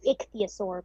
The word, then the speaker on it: ichthyosaur: It's ichthyosaur, but it's pretty close.